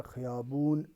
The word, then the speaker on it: خیابان: آقای علی را در خیابون دید۔ خیابان ہے یہ، تو اس کا تلفظ آپ درست تلفظ جو ایرانین کرتے ہیں وہ خیابون کرتے ہیں، تو یہ یاد رکھنا